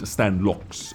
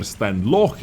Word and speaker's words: Stanlox: The player is called Stanlox, or Stanloch if we are pronouncing it in Russian, I believe. We have to say Stanloch, but for English people, most likely it is Stanlox from Mercy Clan.